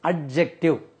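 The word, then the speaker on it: adjective: टी आईवी ई इसको हम मूमन generally we pronounce it एडजेक्टिव इसमें डी का उच्चारण नहीं करना चाहिए डी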